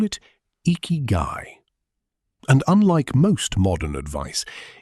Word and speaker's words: Ikigai: Ikigai, pronounced Ikigai, is a Japanese concept that roughly translates to reason for being.